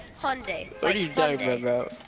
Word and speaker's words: Hyundai: like Sunday not high on day what it's Hyundai what are you talking about you talking about